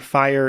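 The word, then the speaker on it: Phyre: for starters I think fire is a very weird name as it is spelled p h y re e and for me every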